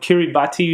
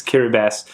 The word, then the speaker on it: Kiribati: used to call it Kiribati until I actually heard how it was supposed to be pronounced. It's Kiribati. It's, for some reason, the TI makes an S.